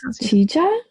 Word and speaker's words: Qijia: Qijia culture site, which comes from the Oh, now, oh, I can never remember the pronunciation of the Q. I think it's Qijia culture in China, which the